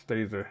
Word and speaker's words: Stazer: I'm also told, according to the internet, that I said Seltzer before, but I think it's Stazer. I mispronounced it.